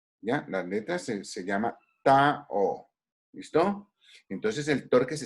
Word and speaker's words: tau: La letra se llama Tao. ¿Listo? Entonces el torque se escribe con esto.